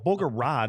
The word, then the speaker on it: Bogorad: Well, Bogorad is Bogorad. I know, but This I is just the found Dallas out that it's Stars Bogorad. DLLS Otherwise, it'd be podcast. Boogerad. But they're talking about Bogorad.